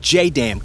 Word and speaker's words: JDAM: For the Mark 84 bombs, this comes in the form of what are called Joint Direct Attack Munition or JDAM (pronounced J-DAMN) kits.